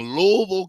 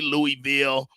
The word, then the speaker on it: Louisville: And this lady is from Louisville, Kentucky. They don't say Louisville. They pronounce it Louisville, Kentucky, born and raised.